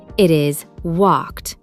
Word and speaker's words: walked: sh, ch, or F, the ed ending is pronounced as a crisp T.